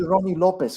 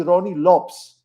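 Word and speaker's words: Rony Lopes: said that it's actually ronnie lopes not ronnie lopez the portuguese pronunciation lops really oh that's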